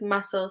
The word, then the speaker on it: muscle: So for some words, if the C comes after the S, so SC, then the C is silent. Scissors, muscle, scene.